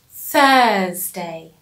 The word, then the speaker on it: Thursday: Now notice the T H in Thursday. So, like before, with 3 and 13 and thank you, we pronounce the th in Thursday. So, the teeth on your tongue, th, Thursday.